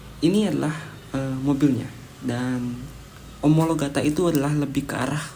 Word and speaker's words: Omologata: sto super trofeo omologata dibacanya omologata ya bukan omologato karena ada beberapa reviewer yang membaca seperti itu yang benar adalah super tropeo omologata Ini adalah sebuah mobil